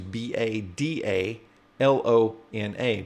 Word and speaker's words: Badalona: he pronouncing it with some weird Spain uh pronunciation no it's actually b a d a l o n a badalona another place and he says badalon it